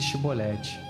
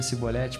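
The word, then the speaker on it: Shibboleth: Se ele dizia, não, então lhe ordenavam, dize Shibolete. Mas ele dizia Sibolete porque não podia pronunciar corretamente.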